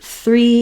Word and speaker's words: three: the word three is putting that th and that R together so I do actually have a separate video just on pronouncing the word three for many people it's challenging to do th it's challenging to do R and it's most challenging to put them together so if that's the case